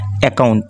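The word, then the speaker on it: account: ও ইউ এনটি একাউন্ট এখানে কর উচ্চারণ একটা হবে মানে উচ্চারণ হবে একটা এবং বাকিটার উচ্চারণ হবে না।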